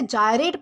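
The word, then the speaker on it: gyrate: दोस्तों इसे जयरेट प्रोनाउंस किया जाता है जिसका मतलब होता है घूमना या फिर चक्कर लगाना।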